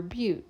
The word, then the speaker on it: but: And finally, the B for bananas actually stands for bute. So if now I know it's spelled but it's pronounced bute.